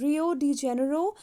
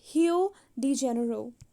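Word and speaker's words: Rio de Janeiro: अगर आप इंग्लिश में प्रोनाउंस करोगे सो the word is pronounced as रियो डी जेनेरो, एंड in Brazil it is pronounced as हियो डी जेनेरो.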